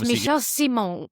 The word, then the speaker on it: Michel Simon: Yeah, and I've I know on the grid for many years was Michelle Simon. Am I pronouncing that right? Yes, Michel Simon.